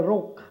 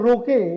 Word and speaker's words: Roque: Ito, according to Korean National Police, si General Rock. Hindi sila makapag-pronounce ng Roque, yung mga Koreano. General Rock.